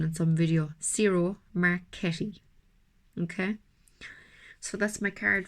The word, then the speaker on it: Ciro Marchetti: I saw his correct pronunciation in some video. Ciro Marchetti.